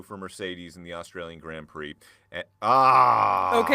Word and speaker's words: Grand Prix: In the end, uh, George Russell, Kimmy Anteneelli, one two for Mercedes in the Australian Grand Prix.